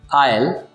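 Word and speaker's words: aisle: आयल, आयल, दोनों words के pronunciation same है। आपको दोनों वर्ड में याद रखना है कि एस यहाँ पे साइलेंट है।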